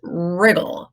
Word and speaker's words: wriggle: This is a wreck with a silent W and wriggle with a silent W.